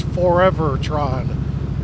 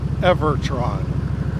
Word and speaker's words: Forevertron: that uh forever Tron and yes I was pronouncing that wrong it's forever Tron not evertron it's forever all right I think right up